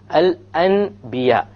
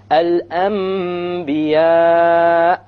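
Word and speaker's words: الأنبياء: followed by a Ba, so we don't pronounce it Al An. We change the Nun into a Meme, and then we do a Ghunna. Okay, Al Anbiya, Al Anbiya.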